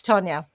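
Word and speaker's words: Taunja: But I thought, okay, phonetically, it's Tanya. Got it.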